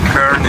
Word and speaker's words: Köln: Or I should say Cologne Cathedral, and Köln is how they say it in German here.